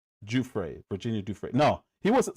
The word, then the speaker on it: Giuffre: Virginia Juay is how you're supposed to say her name. Juay.